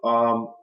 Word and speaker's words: Uwe: grand um world champion U is the way you pronounce his name EU UWE he played Bishop to